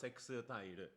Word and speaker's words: Sextile: So yeah, but it's pronounced Sextile.